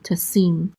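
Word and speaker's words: תָּשִׂים: Asher, that, and then we have a tav with a kamatz, which says ta, and then a sin with a chirik and the yud together says si, and then a mem sofit closes that syllable out, so this is sim, tasim, and tasim means you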